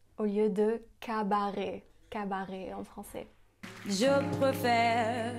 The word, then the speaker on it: cabaret: Elle prononce aussi cabaret au lieu de cabaret.